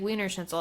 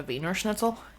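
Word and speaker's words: Wiener Schnitzel: offer a correct pronunciation I believe it's probably closer to venor schnitzel probably but I don't speak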